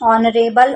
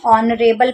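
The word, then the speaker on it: honorable: ठीक है, यहाँ पर भले एच लिखा हुआ है जो कि कॉन्सोनेंट है, लेकिन हम इसको पढ़ते क्या है, एच साइलेंट होता है, ऑनरेबल पढ़ते हैं, ऑनरेबल।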